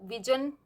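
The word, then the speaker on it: vision: ये साउंड है, ये है ज साउंड, ज ज, जो जजमेंट में होती है, जग, तो विजन वो भी रोंग होगा। And correct sound is this, इस साउंड को हम प्रोनाउंस करते हैं य य, विजन, दिस इज विजन।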